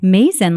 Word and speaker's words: Mazin: for having me and how do you say your last name mason like amazing i love it i